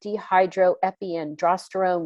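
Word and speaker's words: dehydroepiandrosterone: want to make sure i say it right dehydro epi androsterone which is a hormone like a precursor that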